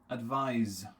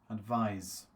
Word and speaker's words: advise: was the verb okay there's a difference in the pronunciation okay listen again guys okay tell me is this number one or number two okay ad is it verb or noun advise advise again type in the